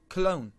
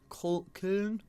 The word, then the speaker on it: Köln: So, as you can see, FC Koln. Köln. Alright, by the way, any pronunciations that I butcher during this series, do let me know.